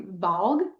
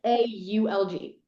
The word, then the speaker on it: Valg: Um, I say Valg, but it's Okay. Okay. Vaulg.